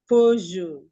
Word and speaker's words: Peugeot: Peugeot.